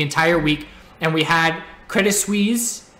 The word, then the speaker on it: Credit Suisse: And we had Credit Suisse. I was informed that you don't pronounce the T, but they were shorting again all day today.